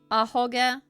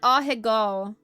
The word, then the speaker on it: ahoge: Ahoge? Ahegao. Nice. Not ahegao.